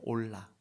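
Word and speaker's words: עולה: 그래서 이 소제라고 하는 말이 어제 번제는 히브리 말로 올라 그래요. 올라. 발음이 히브리 말로 번제, 올라.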